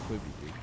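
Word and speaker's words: Quibi: Queebie. And I don't It's pronounced Queeby. Quibby. It's quibby.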